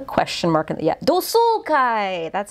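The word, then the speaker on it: 同窓会: And then kai-gi with a question mark in the, yeah, dosoukai. That's how you pronounce it.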